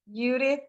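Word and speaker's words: Yudith: to understand you and i would encourage you to spell it as well y-u-d-i-t-h judith because they're going to try to think of judas as an english speaker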